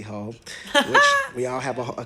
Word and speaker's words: Heaux: It's on her latest record, The Hotels, which is spelled Heaux, a classy hoe, which we all have a classy hoe moment.